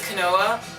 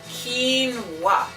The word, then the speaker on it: quinoa: um I know like everybody I know says Canoa which sounds right quoa right but right here it tells you how to pronounce it kinoa quinoa so um I'm